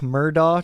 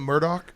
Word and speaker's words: Murdaugh: Simpson was kind enough to weigh in on the Alec Murdaugh trials, who just got Isn't it in Murdoch? Murdaugh. It's pronounced like 1,000 different ways.